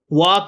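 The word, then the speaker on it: walk: अब ऊपर बैरी बहुत वॉक चलना वॉक में एल साइलेंट है बच्चों याद रखना वाज साथी थे वी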